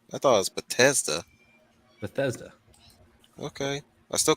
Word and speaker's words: Bethesda: thought it was potassium bethesda okay i still call it potassium sounds better yeah because there's a th in the name bethesda the h is silent besides they can kiss